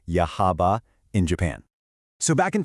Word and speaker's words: Yahaba: Let's take a look at a real world case study, the town of Yahaba, that's pronounced Yahaba in Japan.